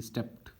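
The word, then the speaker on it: steeped: स्टेप्ड word pronunciation उसकी स्टेप्ड, टी पढ़ा जाता है एंड में।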